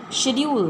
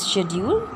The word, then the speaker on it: schedule: Schedule means the timetable here. The pronunciation of this word is schedule. We also say schedule.